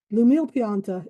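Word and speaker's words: L'Umile Pianta: Lumile Pianta is spelled L apostrophe Umile. That's Lumile and Pianta, Pianta. It is Italian for the humble plant.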